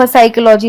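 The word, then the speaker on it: psychology: होता है पी से इसे हम प साइकोलॉजी या फ साइकोलॉजी नहीं पढ़ेंगे हम इसे साइकोलॉजी पढ़ते हैं पी बिल्कुल अलग हो जाता है क्योंकि पी का इसमें कोई काम ही नहीं है उच्चारण में लेकिन ये हम जब लिखते हैं तो ये पी से स्टार्ट होता है साइकोलॉजी का मतलब होता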